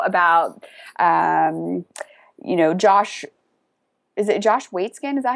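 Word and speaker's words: Waitzkin: Like you're saying, if you know about, Josh, is it Josh Waitskin? Is that how you say it? Yeah, Waitskin.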